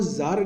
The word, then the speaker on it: tsar: But Russia में वो जार की टाइटल यूज़ करते हैं। याद रखिए स्पेलिंग TSAR है, पढ़ते जार है, ZAR। TSAR लिखते हैं और जो है ZAR जार इसको पढ़ते हैं, ठीक है।